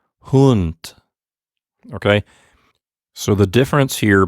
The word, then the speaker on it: Hund: the same exact thing i'm going to say hund but without vibrating my vocal chords at the end hunt okay so the difference